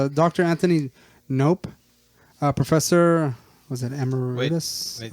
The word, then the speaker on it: Knopp: Nope. Nope. Nope. Nope. KNOPP. Oh, Nope. not as much fun. Is it Nop or Nope? It's nope.